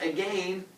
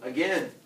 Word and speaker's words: again: swallow and eat again why pronounce a game as a game as opposed to again vanessa so it rhymes rhyming with lame because that makes much